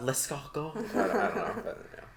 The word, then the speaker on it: escargot: know if i'm saying it right oh it's pronounced liskogo it's so good i was not expecting it